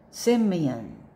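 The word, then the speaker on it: Simeon: cyprus cyprus Okay next word say it semeon Simon if the spelling is capital s i m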